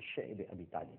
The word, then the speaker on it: شعب ابی طالب: اور اس کے بعد شیب ابی طالب، جس کو بعض حضرات شعب ابی طالب بھی کہتے ہیں، لیکن جس کا صحیح تلفظ ہے وہ شعب ابی طالب ہے، ایک گھاٹی تھی، آج